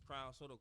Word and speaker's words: Krwnd Sotto: But it's Krwnd Sotto.